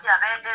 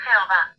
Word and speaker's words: Yahvé: castellano se escribe y a la pronunciación Yahvé es, sin duda, la pronunciación más correcta del hebreo original para indicar a Dios como yo soy el que sois los judíos de la T.